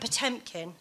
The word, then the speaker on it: Potemkin: Doesn't matter how you pronounce it. Potemkin. Yeah, Catherine Chomkin. The Great and Potemkin, thank you.